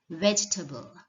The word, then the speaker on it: vegetable: people saying vegetable vegetable it's not veggie table but vegetable vegetable vegetable you